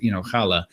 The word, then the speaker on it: challah: I mean, there's some people that pronounce it challah because they can't pronounce the CH.